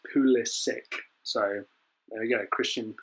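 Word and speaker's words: Pulisic: he'll tell you how he wants his name pronounced and apparently it's poolish sick so there you go christian pool is sick i said it when he signed and i'll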